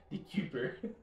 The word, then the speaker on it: DeKuyper: Dude, I think you just like pronounced it right on the first time. That's what Dekuyper.